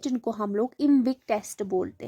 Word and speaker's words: IMViC: तो collectively 4 tests मिलके एक ग्रुप बनाते हैं जिनको हम लोग इम्विक टेस्ट बोलते हैं।